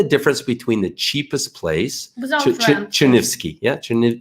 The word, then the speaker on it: Chernivtsi: Chernivtsi. Yeah, how do you say? Chernivtsi. Yeah, what she said. Chernivtsi.